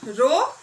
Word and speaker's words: rho: Just for pronunciation, rho, sigma. Okay, so m is the mass of the body, rho is the density of the body.